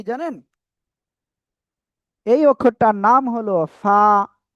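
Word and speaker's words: ف: এই অক্ষরটার নাম হলো ফা। নিচের ঠোটের পেট উপরে দুই দাঁতের আগার সাথে লাগিয়ে নরম করে হালকা বাতাস বের করে এ অক্ষরটা উচ্চারণ করতে হবে।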